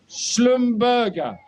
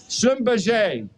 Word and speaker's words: Schlumberger: oil field service provider, and here's where my pronunciation needs some help. Schlumberger. Schlumberger.